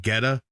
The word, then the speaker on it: Goetta: It's called Geta. It's spelled Goetta, and it's breakfast meat,